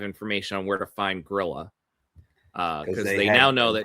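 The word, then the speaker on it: Grýla: And then he got together with Grilla, the Christmas witch, or Gryla, I think, is really the pronunciation.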